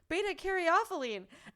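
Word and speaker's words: beta-caryophyllene: one because it has i can't say it beta-carothylene and you said it right and she's teaching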